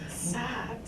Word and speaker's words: Saux: Socks. Yeah, that's how it's pronounced. Yeah, but it's the German way that you spell it. Oh, S-A-U-X. Yes. But it's pronounced Socks.